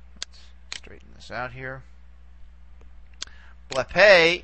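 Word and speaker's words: βλέπε: Blepe is, again, we go back as far as we can. In this case, we only have two syllables to play around with. And this one's going to be long anyway for purposes of accentuation. So here is where we put the accent for blepe, blepe.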